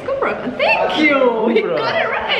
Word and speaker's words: Kübra Khan: In London, people used to call me Cobra. So I have to put the accents on so they can pronounce the U. So it's Kubra Khan. Yeah, it's Kubra Khan.